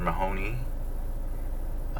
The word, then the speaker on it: Mahoney: Mahoney, because it rhymes with Maroney.